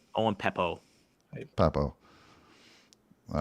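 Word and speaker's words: Pappoe: do you say his last name I want Peppo Peppo all right I'm just curious about size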